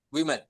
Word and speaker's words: women: Simbolnya tuh sama we. Women woman and women. Iya, woman women. Nah, nih we. Woman, women. Oke, seperti itu. Nah, bukan wimi.